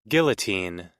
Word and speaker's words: guillotine: So despite standard English rules, guillotine guillotine is pronounced similar to how the French would say it.